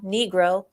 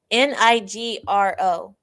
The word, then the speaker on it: Nigro: 2020 by then Commissioner Daniel Negro. Daniel Negro. Was this a typo, Larry? Tell me this was a typo. Okay. The name is spelled Nigro. Nigro. Nigro. Okay.